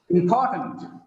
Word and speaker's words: important: Because of the stress on second syllable. The last vowel becomes weak. It becomes tent, not tent.